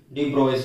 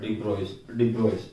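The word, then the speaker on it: de Broglie: ठीक है, जिसको हम डी ब्रोगली हाइपोथेसिस बोलते हैं, और इसको जो प्रोनाउंस है डी ब्रोइस से किया जाता है, डी ब्रोइस इस तरह से।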